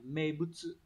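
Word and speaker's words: 名物: Từ đầu tiên, các bạn có từ này đọc là mebutsu.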